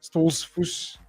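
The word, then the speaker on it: Stoltzfus: Or I thought that was kind of geared up for him to beat Dustin Stolzfus. Sorry, Stolzfus.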